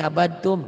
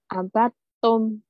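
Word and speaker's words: عبدتم: Kenapa ini abadatum? Nih lihat tuh, di sini ada tasdid nih di Al-Kafirun tuh. Jadi bacanya harusnya gimana? Abatum. Nah, dalnya hilang gitu.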